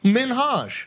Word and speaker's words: Minhaj: Minhaj. Yeah. That sounds correct. I'm pronouncing it correct.